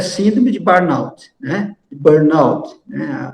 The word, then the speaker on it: Burnout: síndrome de Burnout né Burnout a pronúncia é inglês Então essa síndrome ela